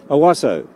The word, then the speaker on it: Owasso: How do you pronounce that? I'm an Australian. Owasso. Owasso.